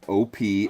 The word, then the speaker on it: Opee: was saying was the name of this fish is the Opie Opie ee is how it's spelled and here's what he